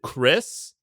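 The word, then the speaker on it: Xris: Um, next patron is I'm going to pronounce it Chris, but it's spelled in a badass cyber way, which is X R I S.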